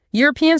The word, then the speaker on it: European: European starts with an E, but it forces your mouth to make that year sound.